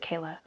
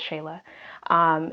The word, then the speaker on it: Shayla: Is it Shayla? I'm pretty sure I'm saying it right. Or is it Kayla? No, it's Shayla.